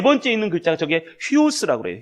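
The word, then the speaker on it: υἱός: 네 번째 있는 글자가 저게 휘오스라고 그래요. 휘오스. 이게 쫙 찍혀 있는 게 뭐냐면 이게 액센트예요. 액센트. 그래서 우 발음이 휘 발음이 돼요.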